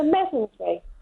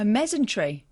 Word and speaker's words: mesentery: But have you ever heard of a mesentery? You what? Mesentery. A mesentery?